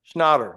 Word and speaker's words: Schnatter: I've been saying Schnatter. Is it Schnatter? Schnatter, like schnapps.